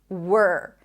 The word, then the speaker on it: were: Okay, let's move on to where, and were. Where, were. These are homophones, so they're pronounced the same.